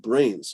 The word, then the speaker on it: BRAINZ: By the way, how do you pronounce the coupon code BRAINS on the website? Some people wonder. Brains. BRAINZ. Or for you Americans, Z.